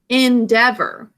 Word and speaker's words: endeavor: think or we say endeavor so how do you think we market the first syllable we kind of say in instead of n how do we mark